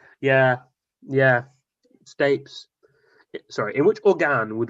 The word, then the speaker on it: stapes: the malus incus and stus which organ would one find the malus incus and stus you sure it's not pronounced stapes oh flip you might be right yeah yeah stapes sorry in which organ